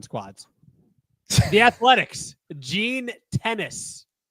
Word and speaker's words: Gene Tenace: Gene Tennis. Not like the sport tennis.